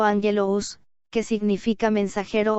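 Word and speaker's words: ἄγγελος: La palabra angelología viene de dos términos griegos, a saber, angelos, pronunciado angelous, que significa mensajero o ángel, y logos, que significa palabra, materia o cosa.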